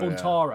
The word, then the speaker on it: Buntaro: It's not Tado, is it? It's Buntaro, isn't it? Taro, that's his name. Buntaro. Buntaro. I've been saying his name wrong the entire time.